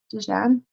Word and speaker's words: Diane: Diane in English, in my language, is pronounced Dijon.